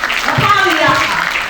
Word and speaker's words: LaPaglia: Lapaglia. The G is silent.